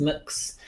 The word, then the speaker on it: Mx: so to speak M little X and it's pronounced mooks that's if you you it's quite fun actually